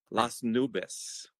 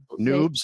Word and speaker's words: Las Nubes: mispronouncing that even I so many different noobs I get you get noobs a lot all the time it's like no that's not it yeah yeah people some